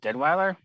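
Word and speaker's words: Deadwyler: But the big thing is, the mother played, I think, probably one of my favorite performances by Danielle Deadweiler. That's how you pronounce her last name.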